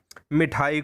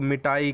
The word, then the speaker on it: मिठाई: मिठाई को मिटाई कह देना, या मिट्टी को मिट्टी बोलना।